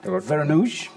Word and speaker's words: Vereenooghe: But now, indeed, welcome Kristof Vereenooghe. That's how you pronounce it in English.